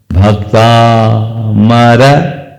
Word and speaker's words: भक्तामर: लोग बोलते हैं वैसे ही संस्कृत में भी उच्चारण करते समय इन बातों को ध्यान में रखना जरूरी है जैसे कल हम बोलेंगे भक्ता मर प्रत मल मण प्रभा अब भक्तामर बोले भक्तामर